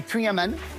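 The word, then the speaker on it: Kouign: Alors, je je vais le prononcer Queen oui.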